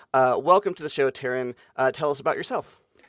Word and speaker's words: Tearyne: Uh welcome to the show Taran. Uh tell us about yourself. Hi Chris, thanks for having me. So yes, I'm Taran. It is pronounced like Karen with a T.